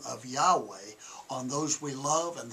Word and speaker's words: Yahweh: many of you know it says there's no god-like Jehovah the correct pronunciation there's no God like Yahweh there's no God like